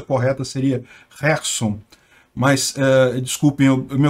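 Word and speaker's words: Херсон: mas a situação continua basicamente a mesma em kerson Aliás a pronúncia correta seria Gerson mas eh desculpem eu me acostumei a falar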